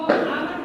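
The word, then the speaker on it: hour: वो आवर है वो ए साइलेंट है और उसको आ वेरी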